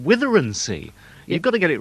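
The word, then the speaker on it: Withernsea: I remember at Radio Humberside, when I worked there, pronouncing the town Withensea, Withensea, that's the way it's spelled. But in that area, they call it Witherensea.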